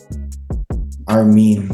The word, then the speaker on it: Armin: Like, for example, he also explained how to pronounce Armin's name, which is Armin.